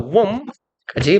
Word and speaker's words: womb: In such studies, 그러한 연구에서 the hand and arm movements of unborn children in the womb까지 봅시다.